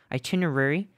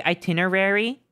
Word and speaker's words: itinerary: Itinerary. How do you pronounce that word? Do you say itinerary? It sounds a little bit like extra when you say it that way. Like itinerary, like February, Wednesday.